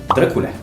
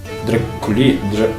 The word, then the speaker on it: Drăculea: And now imagine that you are an Irish writer and pronounce in English - if you can: "Drăculea" Drăqiulia, Drăculia, Drăchiulia. What the hell!